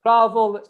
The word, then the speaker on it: travel: Travel is, we have verb travel, we have 2 syllables. Travel, the stress is on the first syllable, not on the second.